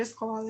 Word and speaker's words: escola: Vamos identificar a sílaba tônica aí da palavra escola. Escola é o có, né? Então, o lá é a sílaba átona.